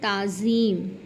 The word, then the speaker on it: تعظیم: تکلف، تلفظ، توکل، تمدن۔ اب ہے لفظ تعظیم۔ تعظیم میں پہلا حرف ہے مفتوح، تیسرا مکسور ہے۔ اب اس کو دیکھتے